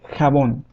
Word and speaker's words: jabón: And it sounds as in the German word Bach. It also sounds, for example, when we laugh, ha ha ha. Well, the sound is just like that. Ha, ha. For example, we have the word jabón, jabón, which means soap.